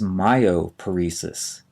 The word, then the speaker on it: myoparesis: is paresis hyphen p-a-r-e-s-i-s the first term is myoparesis m-y-o-p-a-r-e-s-i-s myoparesis refers to a weakness or partial paralysis